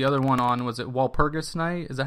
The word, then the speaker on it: Walpurgis: So, but generally in German, the G is going to be hard.